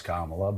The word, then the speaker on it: Kamala: how she's the other we're going to mispronounce her name on purpose we know it's kamla but we're going to